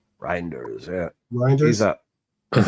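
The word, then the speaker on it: Reijnders: Reinders, is that how you said pronounce his name? Reinders, yeah.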